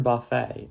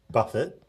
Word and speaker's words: Buffett: Did you ever take inspiration from Warren Buffett on your investing? I do take inspiration from Warren Buffett, not Buffet.